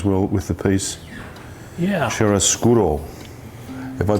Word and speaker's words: chiaroscuro: Chiaroscuro. If I pronounced that correctly?